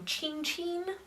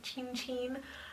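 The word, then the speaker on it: Cin cin: Um, Chinchin, that's how they say to pronounce his name. Chinchin, um, is how Italians say cheers.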